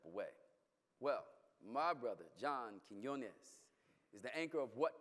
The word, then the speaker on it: Quiñones: please welcome John quinones thank you for pronouncing quinones so well it's not the easiest name to pronounce I mean I've been called everything from Quinn once to Queen Nonis even Barbara Walters couldn't